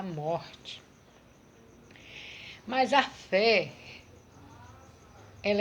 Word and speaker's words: fé: É uma palavra pequena, é uma única sílaba, é uma única palavra, fé. Tem que ter o acento agudo, não é? Senão fica fi. Então tem que ter o acento para ser fé.